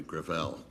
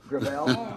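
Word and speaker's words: Gravel: it within my family grael grael it's a French name thank you uh I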